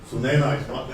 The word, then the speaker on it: Sunaina: Sunaina. It rhymes with China.